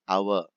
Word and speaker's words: hour: But as far as the British English is concerned, H is silent. So we say hour, an hour, an hour.